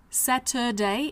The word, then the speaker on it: Saturday: Thursday Friday on Saturday Saturday s a t Ur d a y but the UR comes out as uh Saturday and on Sunday